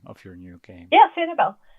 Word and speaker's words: Sanibel: I'm sorry, I don't know how to pronounce the name of your new game. Yeah, Sanibel.